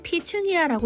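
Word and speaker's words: petunia: 관상용의 꽃으로 이어온이 되죠 영어로는 피춘이야라고 읽는다고 합니다 나팔꽃과 비슷하게 생겼죠 사피니아의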